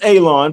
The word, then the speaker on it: Alon: My name is Alon, pronounced like you're going to cut grass, like you're going to cut a lawn.